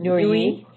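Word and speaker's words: Nooyi: Nui.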